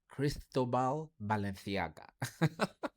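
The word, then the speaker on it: Cristóbal Balenciaga: Cristobal Balenciaga.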